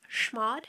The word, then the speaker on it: chmod: use the command schmad this can sometimes be pronounced with a soft sh type sound or a hard ch ch type sound i have always heard it pronounced as shmod so that's how i'm going to pronounce it for this video to use shmod in